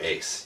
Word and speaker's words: Uys: a new graphic novel review by me ace you can find me online twitter instagram everywhere